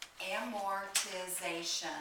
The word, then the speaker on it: amortization: They use an expense called amortization. That's 5 syllables.